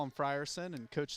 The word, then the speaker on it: Frierson: South before the game they said it was Frierson then the coach corrected me a three Alexander missed